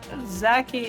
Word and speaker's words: Zaki: Zaki is how you say it in Arabic.